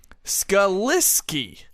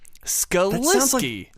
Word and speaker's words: Skalicki: I heard Kristian say Skalicki, not Skalicki. That's actually incorrect as well. Oh, is it? I'm here to confirm that it is Chris Skalicki. Skalicki? The C in his name is actually an S sound.